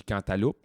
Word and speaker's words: cantaloupe: Moi, le monde qui me reprenne quand je dis cantaloupe, je les battrais. Parce que tu prononces le P à la fin. Cantaloupe. Cantaloupe. Cantalou, ça n'a pas l'air bon.